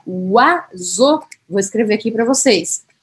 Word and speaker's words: oiseau: palavra, a gente pronuncia oiseau. Vou escrever aqui para vocês. Eu escreveria assim em português. Oiseau. Oiseau. Oiseau, que significa pássaro. Oiseau. Eu escrevo com O-I-S-E-A-U-X. Tem 7 letras, mas eu pronuncio 2 sílabas.